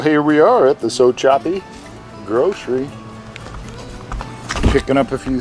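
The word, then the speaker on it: Sopchoppy: Not Sopchopy. There's a P in there, by golly. Mm-hmm. Sopchopy.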